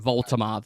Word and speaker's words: Woltemade: We see it on paper, it doesn't look like how it's spelled, but that's apparently how they say it in Germany. You can imagine it, Woltemade. It's got that kind of finger.